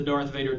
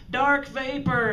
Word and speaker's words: Darth Vader: when we were kids he couldn't pronounce or say the name right you know dark vapor and you know and all of that and you would keep telling him darth vader darth vader darth vader well we